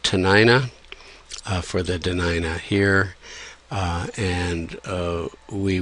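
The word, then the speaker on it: Dena'ina: franka of its time so da denina became tanina and sort of stuck in the literature but we've U Jim Cary and Jim fall and others have been active in using the more accurate pronunciation and spelling denina so this is uh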